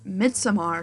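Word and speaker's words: Midsommar: know um and then in February I watched mid samar for the first time yes it's mid Samar is how you pronounce it I got spoiled for a lot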